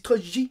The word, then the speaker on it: Trogi: Donc pourquoi on dit Trogi, même si ça s'écrit T-R-O-G-I? Très simplement parce que son père s'appelle Benito Trogi, en 1937 en Italie.